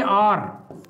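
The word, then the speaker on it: hour: था, देखेंगे डियर इसको जो लोग हावर पढ़ते हैं वो तो गए काम से, क्यों? क्योंकि एच तो साइलेंट होता है, एच पढ़ा नहीं जाता है, तो इसको पढ़ेंगे आर, आर पढ़ते हैं इसको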